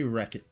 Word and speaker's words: Rechot: How do I pronounce my name? I say Wreckit, but I always say I can't hear you.